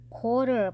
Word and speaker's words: quarter: คำ นี้ นะ คะ เรา ไม่ ได้ ออก เสียง ตัว ควบ กล้ำ นะ คะ เอ่อ เรา ออก เป็น coder ไป เลย นะ คะ